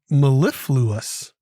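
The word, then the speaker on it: mellifluous: of the day we do it is four syllables it is the word mlus mlus m e l l i f l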